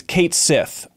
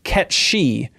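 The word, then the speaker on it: Cait Sith: we know it is Kate Sith that's what we all called it growing up apparently it's Scottish and it's actually pronounced ketchi which I don't even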